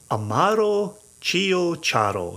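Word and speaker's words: Amaro Ciociaro: So it's Amaro, Amaro, separately. Chio, C-I-O, separate, C-I-A-R-O. Amaro Chiocharo. And if you can start to say it like that, you already sound like you know what you're doing.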